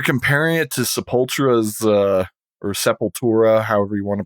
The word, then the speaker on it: Sepultura: A lot of people are comparing it to Sepultura's or Sepultura, however you want to pronounce it.